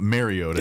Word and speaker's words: Mariota: We're just now getting around to saying uh maybe we've been saying his name wrong for 10 years and it's it's not Mariota. It's Mariota.